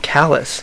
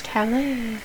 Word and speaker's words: Calais: What are you talking about, Callus? Calais.